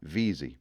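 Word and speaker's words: Veazie: is when someone says V A Z Nosa vizi now how about a bonus Insight did you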